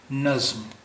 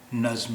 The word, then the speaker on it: نظم: سے دھیان دینا چاہیے۔ نظم، یہ نظم یعنی کویتا، پوئم۔ نظم، یہاں بیچ میں زا کی آواز ہے۔ نظم، یہ نجم نہیں ہے، یہ نظم۔ نظم